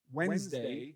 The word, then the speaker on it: Wednesday: Thursday uh actually is why Wednesday is spelled with a silent d right in the middle of the word day all right